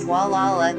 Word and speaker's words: Gualala: Gualala, pronounced Gualala, is an unincorporated community in Mendocino County in the U.S.